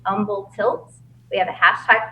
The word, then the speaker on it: Humble: that our district is Umble ISD and Umble like humble stay humble and Umble um it is Umble pronounced silent h silent h cool silent envil Texas